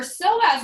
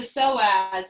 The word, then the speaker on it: psoas: So as you continue to point and flex, our psoas muscle is in the very center of our bodies.